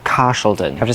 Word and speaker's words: Carshalton: in north yorkshire like car sheldon i have to say with like a sean connery accent like car sheldon i have to say like that wait is it cashelton